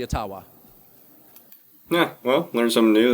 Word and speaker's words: Ottawa: and he goes yeah all the whites are wrong it's actually aawa yeah well learn something new there go aawa anyway it doesn't matter